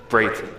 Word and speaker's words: Breighton: So, in case you're still wondering and being confused, my name is pronounced Breighton. Sounds like an 8. Sounds like it's spelled with an A-Y, so that's how you do it.